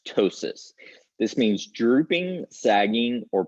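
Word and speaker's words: ptosis: in a minute this the p is silent this is just pronounced tosis this means drooping sagging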